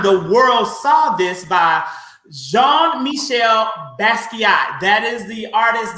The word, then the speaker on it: Jean-Michel: really perfect and again it's jean-michel is how you would pronounce that that name but again i'm really